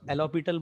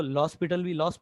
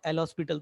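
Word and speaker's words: L'Hôpital: कुछ बुक में इसको एलोपिटल बोला जाता है, कुछ लोग इसको लॉस्पिटल भी बोलते हैं, और कुछ लोग जो सिंपल स्पेलिंग के थ्रू जाते हैं वो एल हॉस्पिटल तो बोलते ही है।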